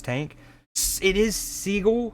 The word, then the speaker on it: Seagal: you call it, like its tank it is seagull. How do you pronounce Seagal?